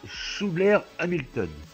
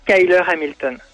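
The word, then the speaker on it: Schuyler Hamilton: Paris avec alors je j'espère que j'ai bien prononcé Schouler Hamilton c'est Skyler Hamilton Skyler bah voilà Skyler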